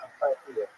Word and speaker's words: apartheid: Why apartheid is why apartheid is not pronounced apartheid? Because it's not an English word originally. It comes from Afrikaans, and in that language, hide is pronounced like him, or hide, not head, or hid.